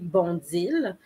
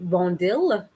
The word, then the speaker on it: Bondil: director and chief curator natalie bonzil of course i'm pronouncing it the french way which is uh so natalie bondill if i were going to quote-unquote anglicize her name um she was the